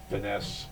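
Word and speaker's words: Fiennes: the other finesse guy Ralph finesse pronounces It Ralph fines I think it's ra F you know it's really weird uh I I never really ized you pronounced it that way until recently I always in my mind thought it was Finn well there's another one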